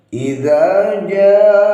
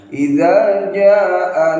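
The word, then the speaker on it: إذا جاء: Idza jaa. Nah, ini jimnya harus dibaca 5 harokat atau 2,5 alif. Ini kalau kurang konsentrasi bisa kurang panjang pembacanya. Idza jaa nasrullah, itu kurang panjang, itu cuma 1 alif atau 2 harokat.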